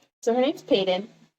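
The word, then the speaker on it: Paedyn: So her name's Payeyton. Payeyton Grave. It's spelled P A E D Y N.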